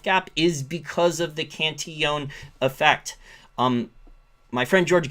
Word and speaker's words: Cantillon: is because of the canteeon effect um my friend george gavin he mispronounced he called it cantilon cantelon it's richard cantion um he actually had